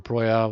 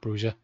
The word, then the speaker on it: Broja: Armando Broja, or Broya, whatever way it's pronounced. He calls it Broja.